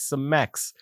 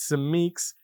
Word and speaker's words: Seek: football it's seek football there's a lot of people out there pronouncing it as seex or seex it's seek it's a play on my last name actually it's a nickname